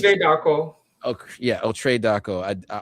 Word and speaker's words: Darko: How do you pronounce it? Darko.